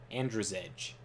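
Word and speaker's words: Andrzej: if that's true but it's amd r-z-e-j it's like andrew's edge for years i called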